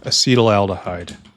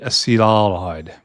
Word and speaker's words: acetaldehyde: And we need acetaldehyde. And acetaldehyde right here. Acetaldehyde? It's not acetaldehyde. It's acetaldehyde. Acetaldehyde. Acetaldehyde. I was pronouncing it wrong.